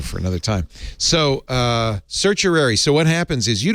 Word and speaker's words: certiorari: this yes yesterday and I learned how to pronounce uh certiorari is how you say it and I said